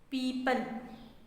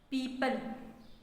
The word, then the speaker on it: people: new words that we saw in the story people people people in this world the or remains silent and we will just pronounce the e people people the next word